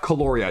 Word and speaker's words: Caloria: next up we have caloria now that's with a silent k they told me it's pronounced like that folks because what you're doing